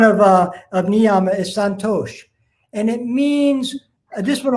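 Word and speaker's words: Santosha: see it as s-a-n-t-t-o-s-h-a some people will take off the h and put an accent on the s because it's a different type of s but but santosh pretty much how it sounds and it means mental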